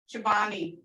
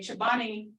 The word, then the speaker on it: cepvne: So I've seen this spelled Cepvne, Chobani.